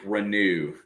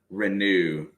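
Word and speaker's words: Reneau: gotta get used to saying that then Malik renew renew and there is something going on out high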